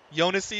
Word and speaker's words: Jounisii: He says it's Jounisii, 4 syllables. Jounisii is correct? Okay. The J is very light.